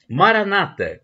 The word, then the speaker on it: Maranatha: aqui com esta frase Maranata como dizem os protestantes acentuando a penúltima sílaba dando a tônica na penúltima seda como dizem nós católicos o descemos nós católicos a entrar na tá o colocando a tônica na última sílaba é importante que significado